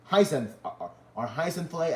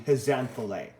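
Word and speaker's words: Haze'n-thley: So I'm just saying right now, the black ones are Heisenflay, are Heisenflay and Heisenflay.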